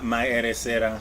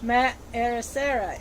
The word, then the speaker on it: Maeresera: Am I pronouncing it correct? Yeah, Maeresera. Maeresera.